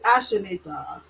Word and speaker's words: Ashinator: I was gonna try to say it like that, but I It's not a tumor. It's Ashinator. Like the Terminator.